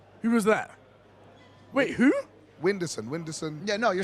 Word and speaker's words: Whindersson: Whindersson.